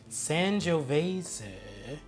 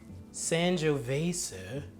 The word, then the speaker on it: Sangiovese: the board is a Sangiovese. Sangiovese. It does not sound like it is spelled.